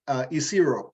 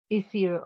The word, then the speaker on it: Isiro: Oh, no, I was just correcting the pronunciation. Isiro, yep. Isiro, okay.